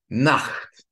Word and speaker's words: Nacht: So, ach, acht, nacht.